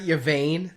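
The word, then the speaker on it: Yvaine: Am I pronouncing this right? Yvain? Yeah. Okay. Because Vane would be too obvious.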